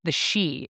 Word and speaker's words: Sidhe: So this is Gaelic, and the word is she. It is spelled Sidhe. That is not at all what it looks like, but it is pronounced she, and the she are the fairy folk, or the people of the mounds.